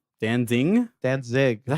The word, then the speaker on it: Danzig: See, that's how I feel about like the Danzig. Danzig? Danzig.